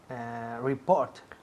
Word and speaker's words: report: Report. Repeat. Report. Muy bien. Report. Report. El énfasis cae en la segunda sílaba. Report. Report. Y hay que escuchar la T al final.